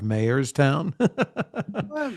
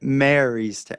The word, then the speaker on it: Marystown: him the mayor of Mayorstown. How do you say it? Marystown. The mayor of Marystown. No, it just sounds like you're saying the mayor of Mayorstown, like a town of mayors.